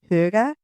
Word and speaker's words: hygge: The way the Dan say huga it just rolls off the top, right? It's very soft. It's very soft and I don't quite say it correctly like and then there's every variation.